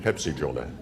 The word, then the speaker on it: Pepsi-Cola: Only the names they were known by then, in keeping with Turkish pronunciation, were Joja-Jola and Pepsi-Jola.